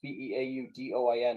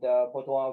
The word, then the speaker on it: Beaudoin: Well, Beaudoin is usually the Americanized, and Beaudoin would be the French Canadian.